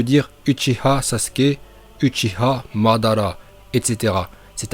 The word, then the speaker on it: Uchiha: mal prononcer tchi à et d'après certains c'est uchiwa et bien non vous vous trompez ce n'est pas parce que dans la vf ou dans les vidéos de certaines youtuber manga vous avez entendu uchiwa que c'est la bonne prononciation regarder dans la version originale c'est bien utile une dernière chose on